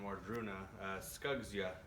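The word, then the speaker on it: Wardruna: from the singer or members of enslaved and wardroona is how you'd pronounce that this is the first album that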